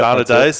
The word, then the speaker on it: Sana Days: Sana Days, that's how you pronounce it.